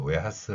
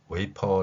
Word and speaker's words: 웨이퍼: 후에도 우리는 수용하고 있지요 과자 이름을 웨하스 아고 발음하시는 여러분들 그 발음이 바로 일본어 발음의 한글 표기라는 것입니다 물론 이걸 약간 변경시켜서 웨이퍼 아고 발음하지 반도체 그 팔대 공정